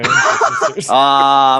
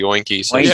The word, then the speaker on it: Oinker Sisters: Excuse me for saying this, Jake, but he mispronounced the Oinker sisters as the Oinky Sisters.